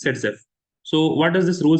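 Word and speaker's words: Zaitsev: is pronounced Z Zev it is written as Z but it is pronounced as setf so what does this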